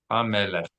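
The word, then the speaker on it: המלך: Chaf makes a chaf sound, so lamed with segol and chaf is lech. Ha, me, lech. Right, so we're just breaking down the syllables.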